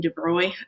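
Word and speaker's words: de Broglie: so about 20 years later um this researcher came by we pronounced his name de bruy um it looks like broglie but it's not so de bruy came by in 1924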